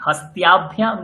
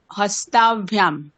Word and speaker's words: হস্তাভ্যাম: হস্তাভ্যাম হস্তাভ্যাম কোনটা ঠিক? হস্ত্যাভ্যাম না হস্তাভ্যাম? হস্তাভ্যাম। আপনি কি উচ্চারণ করছেন? হস্ত্যাভ্যাম কেন করছেন?